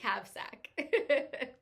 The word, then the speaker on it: Kavsak: I wanted to say it's Brittany Kavalakumova, but I'm sure that's not it. And so it's Brittany Kavsak. Kavsak. What she said, yep.